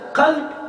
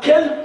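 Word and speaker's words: قلب: Un cœur saint, qalb salim. Alors tu prononces le qa mal, kalb, alors sauf si tu ramènes un chien saint.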